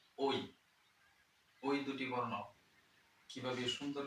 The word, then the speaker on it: ঐ: তার সঠিক উচ্চারণটা হবে ওই। যেহেতু দীর্ঘস্বর বর্ণ, অবশ্যই আপনাকে লম্বা করে টান দিতে হবে। ওই এরকম উচ্চারণ করলে কখনোই হবে না। আপনাকে সঠিক উচ্চারণটা হবে ওই, মানে একটু লম্বা করে টানতে হবে।